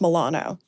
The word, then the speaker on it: Milano: But her last name is actually pronounced Milano.